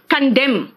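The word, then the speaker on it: condemn: कंडेम, बेटा N silent है यहां पे।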